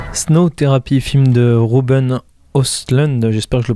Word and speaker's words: Östlund: D'ailleurs, le O avec des trémas au-dessus, je dirais plutôt que ça se prononce Östlund, mais je ne suis pas spécialiste des pays scandinaves.